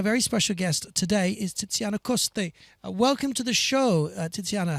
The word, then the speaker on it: Tiziana Coste: Am I pronouncing your name correctly? Perfectly. Titana Costa.